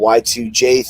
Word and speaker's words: Y2J: you know the whole y2j thing obviously people ask me what ytj came from what was supposed to be y2k jay rhymes with k there you go not